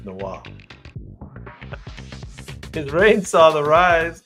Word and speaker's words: Noah: No, it's not Noir, it's Noah.